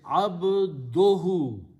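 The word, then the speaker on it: عبده: So now the pronunciation is abduhu.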